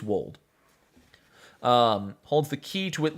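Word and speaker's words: Weald: It's a Wold, right? W-E-A-L-D. I think it's Wold. Someone remind me. I think it's Welsh, so it's like it doesn't sound like how it's spelled. I think it's Wold.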